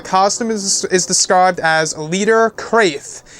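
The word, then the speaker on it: Crath: meets Star Wars, and was described as Leader Kraith's helmet. So the character's name is spelled Leader, C-R-A-T-H, Kraith, not to get mixed up with the planet Kraith, but Kraith like that.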